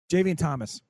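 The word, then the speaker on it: Jaivian Thomas: Javeen Thomas is how you say his name.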